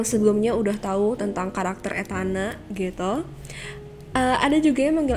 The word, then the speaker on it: Etana: Atau boleh Etana, tapi tolong jangan dipisah jadi kayak nanya gitu. Etana gitu.